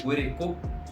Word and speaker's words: goreko: Ou seja, a pronúncia de goreko é uma pronúncia oral e a pronúncia de nhandu é uma pronúncia nasal, certo?